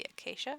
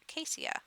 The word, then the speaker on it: acacia: whether it should be acacia or acacia. Acacia. She insists acacia, as you can hear in her furious whispers. It says acacia. But sometimes the CI is pronounced with a sh sound.